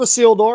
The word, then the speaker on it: Isildur: Heirs of Isildur. It's like, think about a seal has walked through the door.